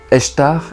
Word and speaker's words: Ishtar: L'œuf pourrait correspondre à la naissance de la déesse sumérienne Ishtar, qui serait née d'un œuf qui flottait sur l'eau, et Ishtar qu'on prononce aussi Eshtar, et qui aurait peut-être amené à Easter en anglais, qui correspond à la fête de Pâques.